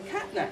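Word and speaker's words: CNTNAP2: this field with something called the catnap gene. It's not really spelled like catnap, but it looks a bit like that, everybody calls it that.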